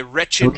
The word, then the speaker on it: wretched: right so that's why whenever you have a a word with an ed ending okay and it is acting as an adjective all right we then pronounce the Ed we say Wicked okay like a wretched woman okay a wretched woman